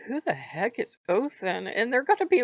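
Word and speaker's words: Óðinn: That's how the D is pronounced. I forget the official name for it, but it's a D with a slash through it. It's a TH sound.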